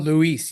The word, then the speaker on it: Luis: Luis, yeah, I knew it Luis.